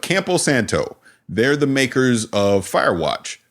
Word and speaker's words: Campo Santo: I always want to call them Camp Santo, but Campo Santo.